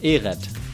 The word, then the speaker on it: Ehret: Ehret.